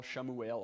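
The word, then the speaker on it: שמואל: hard to recognize i mean read the bible shamu ale okay this is samuel or daawith well this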